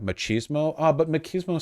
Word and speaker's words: machismo: that what what what machismo is pronounced with a CH machismo ah but machismo sounds